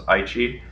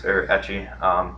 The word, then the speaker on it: ecchi: some very loose of what's known as Aichi. It's ecchi. It's a bit pronounced different ways depending on people.